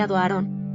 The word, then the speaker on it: Aaron: En allemand, il reste « aaron », prononcé « aarón », bien que dans certains textes anciens, on le trouve également sous la forme « aharon », plus proche de l'hébreu.